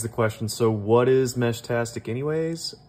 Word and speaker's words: Meshtastic: question so what is mesh tastic anyways I say it like this think walkie texy instead of walkie-talkie these are just small